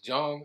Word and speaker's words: Jung: So Carl Jung, he was German. So his name was actually pronounced Carl Jung, right?